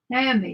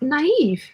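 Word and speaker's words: Niamh: is called and it's ni a m h naami isn't it isn't that naami naami is that naami Deb let us know yeah no that's a pretty name yeah is it no no Deb says it's pronounced naive all right nice Julie says name pronunciations again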